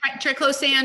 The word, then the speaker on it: triclosan: affect our health so those are endocrine disruptors triclosan and others i remember i used to and for years bought the toothpaste that had my triple sand am i saying it right is it triclosan triclosan yeah and i thought well it says